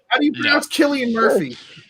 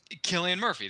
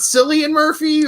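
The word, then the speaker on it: Cillian Murphy: in Hollywood long enough to know how to pronounce Killian Murphy that's what I just Killian Murphy that's how you say it it's not silly and Murphy or so Billy it's Killian Murphy get its try to pronounce thirsty shirt psoriasis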